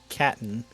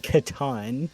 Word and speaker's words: Catan: i played was uh settlers of caton um which as some people would call it catan if you want to pronounce it correct in fact one could almost say most people would call it that but as americans it is our obligation and solemn duty to mispronounce things that sound vaguely foreign to us yep so uh soldiers